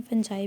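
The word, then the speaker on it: Fungi: फंजाई kingdom में कुछ इसे प्रोनाउंसिएशन में फंगी भी कहते हैं, फंजाई भी कहते हैं।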